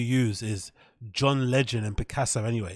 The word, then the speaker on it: Picasso: what did you hear did you hear how you pronounce Picassa no I've never heard that in my entire life he say picco picco see heit that again or anybody picco they have to oh my picco have you ever heard anybody pronounce Picasso picco no way